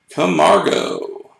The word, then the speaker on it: Camargo: I want to Spain that's how that's pronounced come Margo for the Atlanta Braves